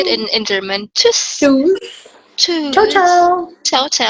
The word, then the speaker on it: Tschüss: Tschüss.